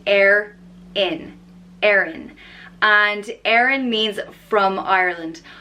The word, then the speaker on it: Erin: pronounce the next name is Erin which is pronounced err in Aaron and Aaron means from Ireland Ireland in Irish